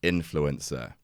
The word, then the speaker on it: INFLCR: a partnership with INFLCR, which I'm reliably informed is pronounced influencer.